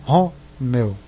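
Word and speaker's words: Romeo: E aí a pronúncia forte é R-O, Romeu.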